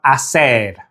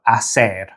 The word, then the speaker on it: hacer: Now in Spanish, both meanings use the same verb, hacer. Now, as you may have already noted, the H is silent in Spanish. So if we go through the conjugated forms of hacer, you'll see how the H is never pronounced.